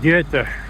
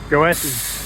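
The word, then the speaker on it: Goethe: a street called G it's spelled GOI it's a German author poet something so the locals know it's called get and the a of towers know it's called goess so people who know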